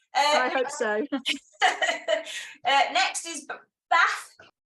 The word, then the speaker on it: Bath: hope so next is bath I'm going to annoy Everybody by pronouncing it in the Barbie way is there anybody from